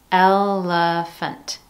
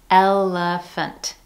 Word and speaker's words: elephant: Notice that each one contains a different vowel in the middle syllable, yet we're still using the schwa sound in each one of those.